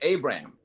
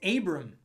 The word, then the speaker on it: Abram: Abraham. Well, it's Abram. It's Abram because he hasn't got the H yet. So it's just Abram.